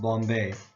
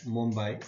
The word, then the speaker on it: Mumbai: by by Western forces they couldn't say Mumbai so they just called it Bombay uh which was a wrong pronunciation however the right pronunciation is Mumbai and therefore is now spelled that way Sobo or South